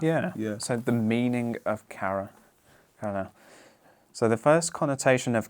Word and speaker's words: kara: So, but they're both pronounced kara and kara.